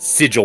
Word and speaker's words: sigil: the the the word sigil is pronounced sigil with like a j sound yeah right that that